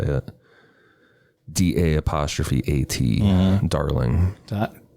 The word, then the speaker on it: Da'at: DA''AT, darling. Da'at. It's ma'at, so I guess da'at.